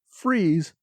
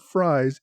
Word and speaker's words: Fries: to assure me that freeze not fries is the correct pronunciation so so much for